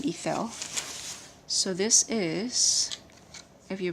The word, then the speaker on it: Ithell: I think you pronounce her first name Ithell.